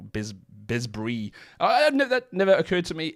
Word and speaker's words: Besbris: I've been told that the bes at the beginning is really like bait, so the name translates to House of the Covenant, but really it's like a Yiddishized pronunciation of bait brit that became Besbris. So if you meet like